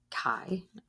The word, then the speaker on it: chi: It's pronounced chi, obviously.